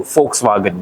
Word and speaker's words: Volkswagen: are at the launch of the all new Volkswagen yes that is how you pronounce it folks vagen German tare this is